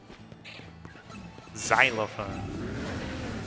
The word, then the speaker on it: xylophone: I pronounce the X as like its own word, its own syllable. Xylophone? What's wrong with me? Xylophone.